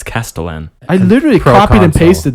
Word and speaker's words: castellan: sure it's typed correctly oh but you pronounce it castellian it's and you said pro council when it's proconsul yeah no i legitimately